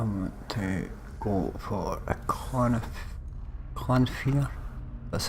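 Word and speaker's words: Clannfear: So I want to go for a Clanfear, that's how you pronounce it.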